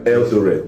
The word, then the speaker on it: Eldoret: Osans, please check if I'm pronouncing it very well. But yes, the people knows I'm talking about Eldoret. Eldoret. E-L-D-O-R. The pronunciation, is it right? Eldoret. Yes, sir.